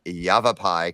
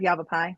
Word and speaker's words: Yavapai: have first off Robin Bryce from Yavapai College and Ryan can could be happy with me because I said that right uh how you doing